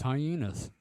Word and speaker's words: hyenas: pronounce Vienna as venas do you pronounce hyenas like as hyenas no it's hyenas okay all right it's